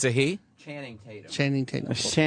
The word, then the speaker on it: Channing Tatum: Channing Tatum. Channing Tatum. You said Shannon. He said Shannon. Shannon Tatum.